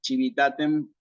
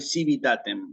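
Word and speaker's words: civitatem: pronunciación eclesiástica chivitaten Sí vamos a suponer que aquí en vez de decir chivitaten se dice civitaten Bueno hay que corregir la palabra porque está mal pronunciada en la tiene eclesiástico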